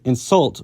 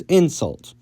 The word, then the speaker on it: insult: Sometimes, when English wants to convert a two-syllable verb into a noun, it will move the stress from the second syllable to the first, such as with insult versus insult, or import versus import. Tibetan has the opposite, however,